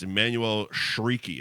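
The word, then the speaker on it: Emmanuelle Chriqui: But it's Emmanuel Shrieky is how it's pronounced.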